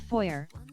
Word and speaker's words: foyer: Same with foyer. It's pronounced foy.